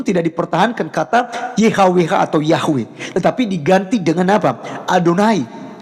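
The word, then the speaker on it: Yahweh: langit dan bumi adalah Yod he W he yang di kita kenal sebagai yahwewe ya kita bacanya sebutnya yahwe Nah jadi teman-teman sekalian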